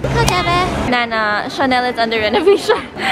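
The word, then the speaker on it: KaDeWe: So this is actually pronounced as Kadeve. So even if it's spelled as K-A-D-E-W-E, it's called Kadeve.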